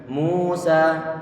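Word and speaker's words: موسى: Mim dia ditommahkan, pengucapannya dengan kita monyongkan bibir. Ayo. Mi, mu. Wawu sukun sebelumnya dhamma ini bacaan mat. Bacaan mat. Kalau mat tentunya tadi itu perlu untuk kita panjangkan.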